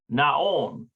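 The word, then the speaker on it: נכון: And that's Nahon. That's true. That's correct. Let's make sure we're pronouncing that correct. Nahon. Naon. Naon. Naon is true.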